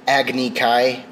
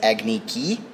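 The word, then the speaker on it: Agni Kai: changed iro to iro he also pronounces uh agnikai which is a a fighting battle between firebenders as agniki oh yeah um and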